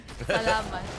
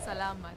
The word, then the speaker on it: salamat: Oh, you Filipinos don't say thank you. Salamat. Huh? Salamat. Salamat. Salama.